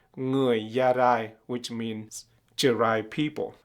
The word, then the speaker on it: Jarai: And the Vietnamese or the Kinh people, they are the dominant group of people in Vietnam. They call us Gia Rai. Sometime they say Người Gia Rai, which means Jarai people.